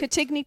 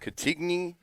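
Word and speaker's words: Cantigny: Catigny Park. Catigny Park in Wheaton, Illinois.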